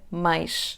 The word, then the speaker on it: mais: To pass better from the /a/ sound to the /ʃ// sound, let's use the /j/ sound between them: /majʃ/, / majʃ/ as in the word "you, your" /majʃ/, /majʃ/.